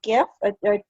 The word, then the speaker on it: GIF: pronounce this thing because it stands for graphic and it's a hard g that's my that's my that is i stand firm on this and so if you